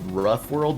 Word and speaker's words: Raf World: japanese game called uh it's called rough world but it's spelled raf world like raph world craft okay yeah let's